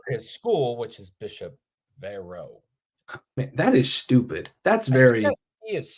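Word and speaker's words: Verot: it's not of his school which is Bishop Vero that is stupid very is silent by the way it's v e r o t let's call it verit just for the fun of it verit all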